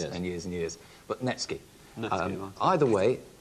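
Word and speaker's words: netsuke: me up and say I've got a few nukis it's all in the pronunciation because because it's spelled that way it's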